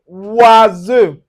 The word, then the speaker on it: oiseau: So you can see anywhere you see the o u plus the i or you can see o u plus a vowel. So it gives us the oui.